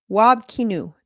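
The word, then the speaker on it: Wab Kinew: Wob Kinew, that's how you say it, has done the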